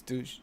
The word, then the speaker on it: Deutsch: It's not Dutch, is it? It's Deutsch.